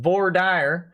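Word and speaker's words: voir dire: first jury duty yesterday went through voidir which the judge and attorneys assured is pronounced vordyre in texas uh and got selected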